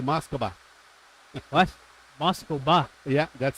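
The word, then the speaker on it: Москва: it really depends uh it's actually moscova what moscoa yeah that's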